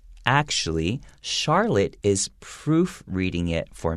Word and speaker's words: Charlotte: a charlotte chandelier so charlotte even though it starts with ch and traditionally it has a ch sound and this situation is pronounced like an s sound okay so charlotte is